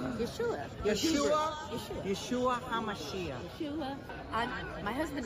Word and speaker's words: Yeshua: How do you say Jesus in Israel? Yeshua.